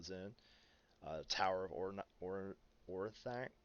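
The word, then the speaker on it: Orthanc: uh tower of or orthack i think it's pronounced or thunk i'm terrible pronunciations but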